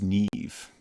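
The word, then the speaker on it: Niamh: names boo yach uh silver says ni a MH is Neeve interesting take care Baltimore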